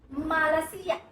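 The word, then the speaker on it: Malasia: Third country is Malaysia, Spanish would be Malaysia, because it is 3 syllables, so you are supposed to put emphasis on second syllable, Malaysia.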